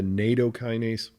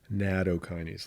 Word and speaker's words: nattokinase: So I'll avoid the nattokinase. I'll say nattokinase, a little softer.